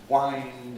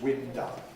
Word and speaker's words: wind: of words that are spelt the same but pronounced differently homographs so we had an example where somebody had to wind up a mechanism and it produced window instead because wind and wind are spelt in